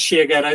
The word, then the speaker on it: Shiageto: right and just for everyone's benefit this is sh ghetto this is the logo this is the name this how you spell it this is a pillow made by my